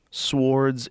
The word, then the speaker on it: swords: Swords and shields. What? With armor and helmets. Swords and shields. Why' I say swords? Swords. I said it like it's spelled.